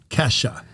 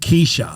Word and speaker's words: Kesha: songs growing up, and one of them was Kesha. Yeah, I didn't know who I it pronounced was. it Keisha. You said Keisha.